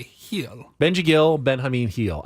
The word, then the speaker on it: Gil: of making that up I know that the Spanish G is pronounced like an H so it's it's heel it's really I mean